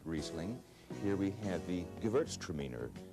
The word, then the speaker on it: Gewürztraminer: Here we have the Gewürztraminer, Gewürztraminer or spicy Traminer.